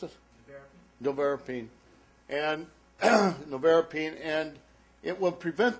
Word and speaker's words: Nevirapine: How do I pronounce it? Nevirapine.